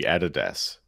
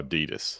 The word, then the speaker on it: Adidas: Well, it used to be Adidas, but then we got Americanized and it's now Adidas.